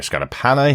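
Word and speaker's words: Scardapane: Uh this episode once again written by the new showrunner for the show, Dario Scarapana, who I found out this week is uh his name is pronounced that way.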